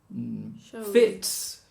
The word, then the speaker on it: fits: Whereas fits is an S. Everything that fits or coax. Everything with T and K ends with an S.